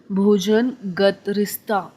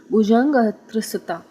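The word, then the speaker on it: भुजंगत्रासित: with one leg in भोजन गतरिस्ता आई एम so sorry to have pronounced it this manner. इसका actually ये एक single word है, भुजंग त्रिसता, मतलब कि जो जब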